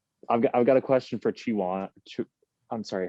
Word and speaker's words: Chowan: I've got a question for Chowan. I'm sorry, how do you pronounce the school? Chowan?